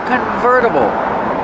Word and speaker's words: convertible: It's a convertible. Pronunciation converter. Vera. Use a fast D.